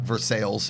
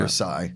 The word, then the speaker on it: Versailles: It's not Versailles. It's Yeah. Versailles. Yeah. Though there's a city in Pittsburgh that's spelled Versailles, Right. There's and only- they say North Versailles.